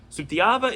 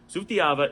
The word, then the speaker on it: Sutiava: get used to that those are interchangeable and it does not change the pronunciation of the word sutyava is a great example of where this is really complicated now sutiyava is an indigenous community